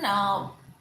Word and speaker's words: thumb: Next, even thumb, THUMB, is again B silent, thumb. So you don't have to be very categorical in putting a lot of emphasis on thumb, b. So B remains silent.